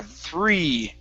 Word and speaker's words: three: finally game okay good now let's practice the thr instead of three three it's thur three three three okay push the tongue